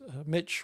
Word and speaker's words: Mitch: Yeah, that's Mitch rhymes with bitch, rhymes with switch, rhymes with ditch.